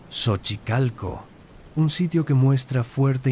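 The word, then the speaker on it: Xochicalco: en Shochicalco, pronunciado Sochicalco, un sitio que muestra fuerte influencia maya, aunque técnicamente está fuera del área maya central, existe una cueva cenita espectacular.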